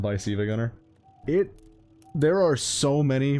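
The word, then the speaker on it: SiIvaGunner: with Silva Gunner by whether they pronounce it Silva Gunner or SA Gunner because one of those is correct and it's not Silva Gunner.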